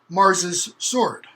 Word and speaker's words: Mars his sword: his sword it's pronounced mars's sword so in the pronunciation the h is elided off well when you hear